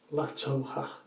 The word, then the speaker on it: La Toja: The soap I'm going to be using is a Spanish soap stick called La Toja.